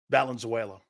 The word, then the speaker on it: Valenzuela: is the most influential Los Angeles Dodger ever Valenzuela I mean what he did in LA and